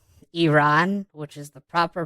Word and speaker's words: Iran: This just shows to me that he's a very fake and scripted person, because he'll say Iran, which is the proper pronunciation, and then in the same sentence he'll say Iran.